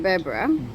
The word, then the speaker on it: Berbera: um so we've had a night here in berbera did i say it right yeah yeah yeah